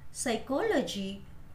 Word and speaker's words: psychology: P is not pronounced in these words. P चा उच्चार या शब्दांमध्ये केला जात नाही. Cupboard, then pneumonia, psychology, coup, and psychiatrist.